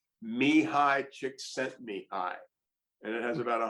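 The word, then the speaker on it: Csikszentmihalyi: a thousand times and his name is and this is apparently the correct PR pronunciation Mi High chick sent me high and it has about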